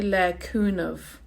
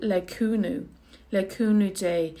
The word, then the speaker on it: le cúnamh Dé: Now in Munster, you hear that ending, they say le cúnamh, like a V sound, le cúnamh dé. In Ulster, they actually say it like a U, le cúnú dé, and the day is more like a J sound, le cúna J.